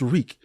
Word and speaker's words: Reek: Your reek, just reek. It rhymes with freak.